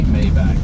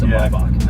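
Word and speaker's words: Maybach: lot just like the and also I say mayback by the way for anybody who's I say that because that's what everybody knows but it's aach I know how to pronounce it there we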